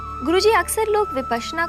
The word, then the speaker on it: विपश्यना: विपासना कहना बिल्कुल गलत है। संस्कृत में समझे तो विपश्यना, पश्यना कहते हैं देखने को, विपश्यना विशेष रूप से